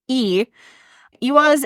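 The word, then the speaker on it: Eihwaz: in the English alphabet and is phonetically e iaz is one of the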